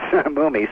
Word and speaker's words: Mumy: No, well, I mean, according to my dad, it was always Mumy, so Yeah.